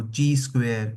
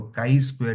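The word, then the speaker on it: chi-square: लो काई स्क्वायर distribution अब देखो इसको हम प्रोनाउंस अलग-अलग कर सकते हैं कोई बोलेगा इसको ची स्क्वायर कोई बोलेगा इसको काई स्क्वायर डिस्ट्रीब्यूशन कोई इसको बोलेगा ची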